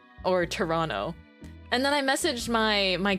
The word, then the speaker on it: Toronto: Did you know that Toronto is pronounced without the second T?